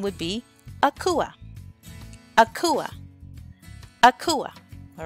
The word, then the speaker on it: Akua: were born on Wednesday your name would be Akua Akua Akua all right so Wednesday borne males quake coupe quake coupe quake coupe Wednesday borne girls Akua Akua Akua enjoy your name now the next